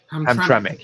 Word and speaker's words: Hamtramck: boat campaign underway you mentioned ham is it pronounced hamic hamic yes okay because obviously yesterday you went there